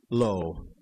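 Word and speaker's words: לו: change one letter and it still had the same pronunciation here's what the printed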